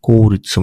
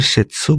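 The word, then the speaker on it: 切: আর আরেকটা উদাহরণ হচ্ছে কৌরিৎসু মানে হচ্ছে সরকারি, ঠিক আছে? এটা ইম্পর্টেন্ট কাঞ্জি। তারপর এটা হচ্ছে কিরি বা কাটার কাঞ্জি, এটার অনের উচ্চারণ হচ্ছে সেতসু বা সাই। হ্যাঁ, আর কুনের আমার উচ্চারণ হচ্ছে কিরু, ঠিক আছে?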